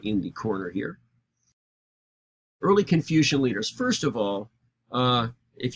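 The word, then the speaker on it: Kongzi: But their names are more correctly pronounced Confucia and Mengsa.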